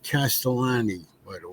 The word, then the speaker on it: Castellani: the picture what was that his name is pronounced castellani by the way castellani I don't know whether you have it I